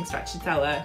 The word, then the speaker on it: stracciatella: Stracciatella. Stracciatella. You do want to stress on the T syllable around the end, and of course double C in Italian sounds like CH.